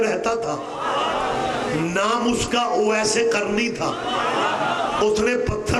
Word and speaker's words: اویس: پھر کہہ رہا ہوں اویس قرنی، یہ تلفظ اویس ہے، اویس نہیں، لیکن یہ غلط علام ہے، ہمارے ہاں اویس ہی بولا جاتا ہے۔ اویس قرنی نے پتھر